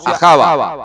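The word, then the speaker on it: אהבה: Javá se pronuncia ajava, que significa gustar, suspirar, inclinarse hacia.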